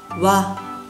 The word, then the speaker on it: は: Watashi wa Lisa desu.Este wa, no podemos usar wa, solo usar ha, pero pronunciar wa.